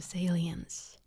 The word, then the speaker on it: salience: It's aliens basically.